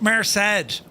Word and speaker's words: Merced: Pronounced Merrced. The Merced River.